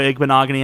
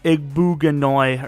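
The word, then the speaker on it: Igbinoghene: If it's, a series like Raiders or Dolphins, and I keep mispronouncing a guy, like, let's say we didn't trade Noah Igbenogany. I kept calling him Noah Igbuganoy or something.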